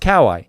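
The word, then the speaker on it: かわいい: My mom came back from Japan and said it's pronounced Kawai. Now, that's an American interpretation. But I would like to say I've got some street cred when it comes to Japan on the Kawai front.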